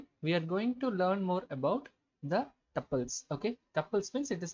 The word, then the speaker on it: tuple: It is tuple, not tuple. Okay, tuple. It is rhyming with the couple. Like how you say couple, likewise you should say tuple. Okay, you should pronounce like it.